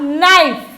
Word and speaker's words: knife: The same way knife में the first letter K is silent, so it is called as a knife.